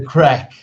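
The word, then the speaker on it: craic: possible project says kerry it's the crack yeah she spells crack rights here c-r-a-i-c that's how we spell it she's from england she's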